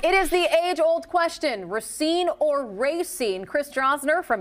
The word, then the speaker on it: Racine: I talked to a couple, I talked to a lot of people from Racine, a lot of my friends, and have kind of pronounced it both ways.